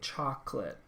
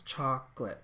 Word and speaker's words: chocolate: we speak in English we say chocolate which has like two sounds chocolate okay and just teacher moment I know that some people do it with three syllables choca like a kindergarten teacher might teach a child to cabify that way I do